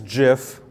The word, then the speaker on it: GIF: I do know that if you pronounce GIF it's GIF the guy that wrote it told me that back in the 80s so I still believe him but I don't know